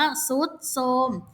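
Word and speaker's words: ทรุดโทรม: พี่ บอก แล้ว ว่า ถ้า เจอ ทธ ร ให้ เปลี่ยน เป็น ซอ โซ่ ทัน ที นะ เพราะ ฉะนั้น อัน นี้ อ่าน ว่า ทรุด โทรม อย่างี้ คือ คำ ควบ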